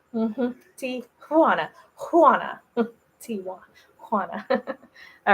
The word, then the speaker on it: Tijuana: I grew up learning to call it Tijuana until just the other day I learned that that's not how you pronounce it. So Tijuana. Tijuana. Mm-hmm. Tijuana.